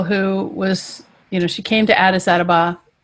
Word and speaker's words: Addis Ababa: So we just met a girl who was she came to Addis Ababa, right?